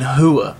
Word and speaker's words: Rua: Okay, so Johnny Bones, he completely dominated Rua. Alright, or excuse me, Shogun Hua, I'm sorry. Always speak it like it's spelled.